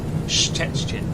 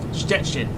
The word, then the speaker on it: Szczecin: Szczecin. That place. Sounds like saying stretching. Stretching. Stettin. Bloody hell. Stettin. There you go. Stettin. That's the one. Stettin. Szczecin. That's how you say it. Szczecin in Poland.